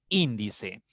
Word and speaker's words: índice: Por ejemplo, índice. Índice tiene 3 sílabas. Y la mayor fuerza contando de derecha a izquierda está en la tercera sílaba. Entonces, una palabra esdrújula.